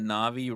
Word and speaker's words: Navi: My only explanation is that Navi rhymes with Javi, and Javi is fucking just a bitch, and that's it.